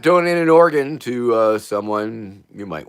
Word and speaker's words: Oregon: Notice how I said organ. Cuz I think that's how you say it, right? Organ. Like an organ.